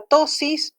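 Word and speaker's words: ptosis: Reflejo palpebral y fotomotor, o sea, es que no tenga tosis. Tosis se escribe con P, tosis, que no tenga el párpado caído, porque eso es una...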